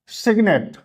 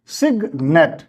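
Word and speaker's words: signet: तो कुछ शब्दों में जी और एन दोनों सुनाई देते हैं। यानी जब हम प्रोनाउंस करेंगे तो वहां पे जी और एन दोनों प्रोनाउंस होंगे। Like सिगनेट एस आई जी एन ई टी सिगनेट दोनों प्रोनाउंस हो रहे हैं।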